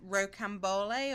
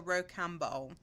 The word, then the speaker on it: rocambole: There is porcelain, purple stripe, and rocambole or rocambole, depending on how you pronounce it.